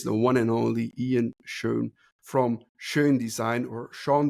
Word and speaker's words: Schon: It's pronounced Schon.